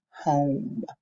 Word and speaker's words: home: And I knew to say O because of the E. The silent E makes this vowel, the letter O, the O sound, and just says its name. So we have home.